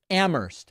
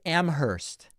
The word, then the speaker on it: Amherst: an outsider it's pronounced ammer ignore the H okay these Outsiders used to show up and they'd say I go to UMass Amherst no absolutely not okay